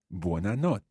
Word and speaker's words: notte: the word for night buona not again with that double t sound in there try to bounce on